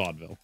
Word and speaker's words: Vaudeville: I don't know how you pronounce it's it. It's Vaudeville.